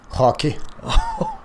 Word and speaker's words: Roque: Yeah, Roque. Okay. If you prefer, say it like the Brazilians will do it, hockey.